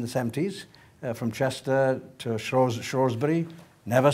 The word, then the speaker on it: Shrewsbury: British Rail in the 70s, from Chester to Shrewsbury. Never say Shrewsbury, always say Shrewsbury.